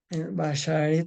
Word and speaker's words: bashert: Vamos a ver la palabra bashert, que viene siendo basar se pronuncia.